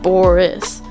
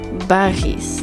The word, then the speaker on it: Boris: already, if you're American, you say Boris as, well, how I just said it, Boris. But the correct pronunciation is kind of like Baris, like, it's like a ba, and then a race.